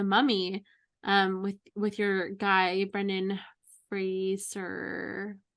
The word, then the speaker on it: Fraser: And then curiously enough, I watched The Mummy with your guy Brendan Fraser. Rhymes with razor.